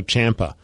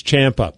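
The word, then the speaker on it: Ciampa: that even wrestling dude is a wrestlemania tommaso champa and he even has it on his twitter like the pronunciation it's champ up but everyone says because the way it's spelled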